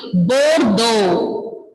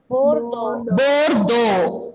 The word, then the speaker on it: Bordeaux: Then the next city, fourth one is Bordeaux. Bordeaux. X is not pronouncing here. Bordeaux.